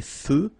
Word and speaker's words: feux: So here, final X not pronounced. Des feux de circulation.